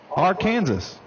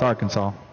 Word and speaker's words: Arkansas: R Kansas. Yes, I know it's Arkansas.